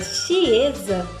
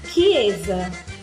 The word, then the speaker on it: chiesa: O C e o H, ele tem o som de K. Então, por exemplo, a palavra chiesa se fala chiesa, chiesa, não chiesa, chiesa.